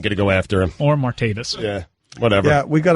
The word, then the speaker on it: Martavis: keeping us young Mikey making it martavius and it's not more tape its martavis you can't be happy